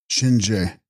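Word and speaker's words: gShin rje: Text: Shinre, pronounced Shinje, Lord of Death, but the plural form is allowable and preferable here.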